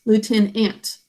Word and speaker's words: lieutenant: okay and the second what sounds do you hear t n three sounds lieuten that's like the number 10 and finally last syllable ant Lieutenant ant a just like a little ant okay Pi up your